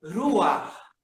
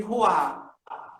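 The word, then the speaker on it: רוח: a nossa língua eh espírito é ruar ruar né que aí a gente chama de Roar mas eh né na pronúncia é ruar Iron eu peço que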